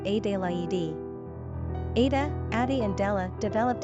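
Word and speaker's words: Adélaïde: Adelaide is also the French spelling rendered as Adelaide and pronounced A-de-la-e-de.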